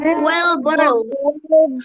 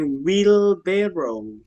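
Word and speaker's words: wheelbarrow: tapi lake lake lake kereta sorong wellber wellber bukan well tapi will barrow will barel barrel oke next sumber air water source water source i water source Next.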